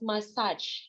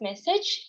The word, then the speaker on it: message: It was pronounced as massage. So the correct one is message, all his message.